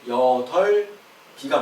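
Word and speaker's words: 여덟이: 그 여덜이 같은 경우는 저게 지금 발음이 여덜이라고 했는데요. 저게 아니고요. 저 음가가 다 실현이 돼요. 그래가지고 여덜 비가 맞습니다.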